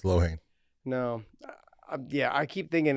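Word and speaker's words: Loughnane: I know it doesn't look that way, but it's Lohane. No. Yeah, I keep thinking it's Lohane, but everyone keeps telling the way it's spelled looks Lonane.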